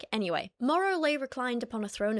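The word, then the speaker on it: Morrough: It's spelled Morrow like M O R O U G H for those of you who are listening to the audio only version. Morrow.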